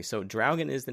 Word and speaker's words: Draugen: So, Dragan, um, that is how it is pronounced.